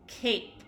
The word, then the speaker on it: cape: good now let's look this word ends in a e very good so that means we need to make the long vowel sound so when we read